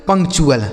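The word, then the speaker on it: punctual: रखना है आपको कि टी यू एल जो होता है इसका उच्चारण हमें चुल कर देना होता है।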